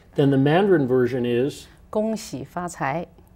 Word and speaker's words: 恭喜发财: 恭喜发财.